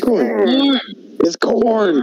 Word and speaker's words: Karn: It's Karn.